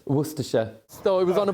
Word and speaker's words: Worcestershire: For the record, how do you pronounce it? Worcestershire.